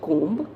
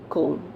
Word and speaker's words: comb: and that is c-o-m-b is it comb no it's comb okay so we speak next time you speak it you'll speak it as cone now the next word